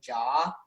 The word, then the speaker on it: Ja: I love how you pronounce it as Ja rather than Jaw.